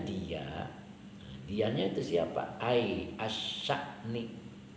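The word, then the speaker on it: الشأن: Ai asya'ni, bacanya asya'ni.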